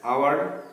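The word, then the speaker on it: hour: আর ডিএরটা last one, C arrived dash আওয়ার late, তিনি 1 ঘন্টা দেরিতে এসেছেন। তাহলে সি অ্যারাইভড অ্যান আওয়ার, এখানেও উচ্চারণটা কিন্তু ভাওয়েল সাউন্ডই হচ্ছে, আওয়ার এইচ ইউর আওয়ার, উচ্চারণটা হাওয়ার হচ্ছে না, উপরটা হনারেবল হচ্ছে না।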